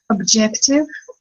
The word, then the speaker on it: objective: Objective. Repeat the word objective. Don't say j. Objective.